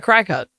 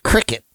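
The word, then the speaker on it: Cricut: No, it's not a cry cut. It's not. It's a cricket.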